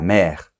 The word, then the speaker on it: mère: prononce le r la mère on prononce le r ok généralement les exceptions